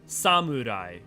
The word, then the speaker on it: samurai: Or samurai. It's not samurai, it's sa, mu, ra, I. Samurai.